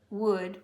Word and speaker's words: would: The L is silent. The D sound is going to It's very important. Good, wood. This is often said wood. It's wood. Wood, stood, should, could, would, which is pronounced just like this word, would, would.